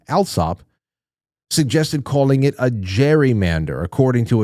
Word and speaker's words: gerrymander: suggested calling it a gerrymander, according to its account. Okay, it's Gerrymander. Gerry, the last name with that soft, uh, that that, uh, soft G. Well, it turned into a hard G, gerrymander.